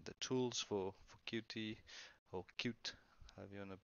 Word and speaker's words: Qt: kit 5 and the tools for Qt poor cute I'm going to pronounce it for this designer to create Python